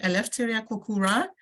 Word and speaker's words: Eleftheria Koukoura: and our first speaker is I hope I pronounce this correctly I left area kokura and I would like you if you are